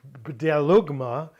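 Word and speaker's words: βδέλυγμα: The thing is to delugma that's a tough word to say delugma because there are no silent letters in coin a uh delugma is a detestable thing a vile thing or a defiling thing.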